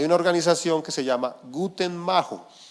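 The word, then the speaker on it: Guttmacher: organización que se llama guten Majo así no se escribe pero así se pronuncia Y no es que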